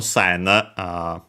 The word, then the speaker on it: 千: But yeah, by the way, notice the pronunciation sen, not exactly in Japanese because of some changes, but actually not also in Chinese strictly. Notice that it's still the n at the end.